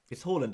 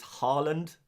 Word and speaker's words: Haaland: how I should say Haaland. Haaland is how you... It's the Norwegian... Well, it's closer to the Norwegian pronunciation. Much closer to the Norwegian pronunciation.